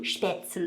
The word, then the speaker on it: Spätzle: Spätzle, it's like a German noodle thing. Do you have to say it like, da ist spätzle? Well, you have to say spätzle because there's an umlaut on the A.